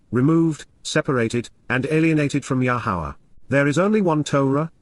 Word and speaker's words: Yahowah: Nifil perfect, subject alone is affected by approaching at this moment, himself moving toward, Yahowah, the proper pronunciation of Yahowah, our Eloah, God as directed in His Towrah, teaching regarding His Hayah, existence and our Shalom, restoration.